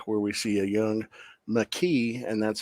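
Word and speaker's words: Makee: Well, it was titled Emergence, and in the opening scene, it's a flashback where we see a young McKee, and that's how they pronounce her name.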